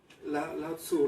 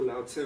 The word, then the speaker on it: Lao Tzu: Lao Tzu, Lao Tse o Lao Tzi, algunos le dicen. Ya. Eso es solamente por cómo se pronuncia.